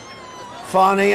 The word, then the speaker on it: Fani: funny it's spelled Fanny it's spelled Fanny like your ass right Fanny but when she became da she decided to add a little French a little fny fonny and you know fonny